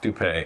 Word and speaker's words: Doupe: Doupe.